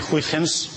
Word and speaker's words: Huygens: Para pronunciar los nombres holandeses es muy fácil. En primera aproximación uno se imagina que son castellanos y ya está. O sea que en primera aproximación uno dice Huygens y ya en segunda ya hace